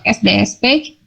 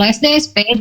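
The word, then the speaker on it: SDS-PAGE: Sampai sini ada yang mau ditanyakan sebelum saya pindah ke SDS page? Kalau belum ada, saya lanjutkan lagi. Yang nih. Jadi kalau tadi gel elektroforesis untuk memisahkan DNA, kalau SDSP itu, nah bacanya gitu, sodium dodecyl sulfate polyacrylamide gel elektroforesis, panjang ya.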